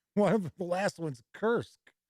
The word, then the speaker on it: Kursk: of the last ones kursk or as many people pronounce it kirsch all right let's see